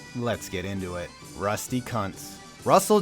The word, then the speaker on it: Kuntz: Okay, it's actually pronounced Kuntz.